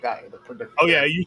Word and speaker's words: Gaia: Or whatever how you pronounce it. It's Gaia. But yeah, okay. It's the mother of the earth, Gaia.